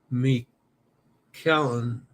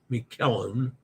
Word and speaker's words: Miquelon: Following standard French pronunciation, Saint Miquelon, as in bone. Miquelon. But since it's Canadian French, it would have its own regional pronunciation. Pretty sure it's Miquelon. I know the first syllable has all the emphasis.